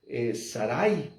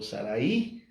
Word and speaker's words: Sarai: Tú te llamas Sarai o Saraí, como quiera pronunciarlo. No nos vamos a pelear por eso.